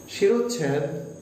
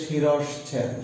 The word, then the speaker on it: শিরশ্ছেদ: শিরোচ্ছেদ, আমরা এটার উচ্চারণে ভুল করি বলে সাধারণত ভুল হয়। শব্দটা হচ্ছে শিরশ্ছেদ, শিরস্ছের সাথে ছ একার দ, শিরশ্ছেদ।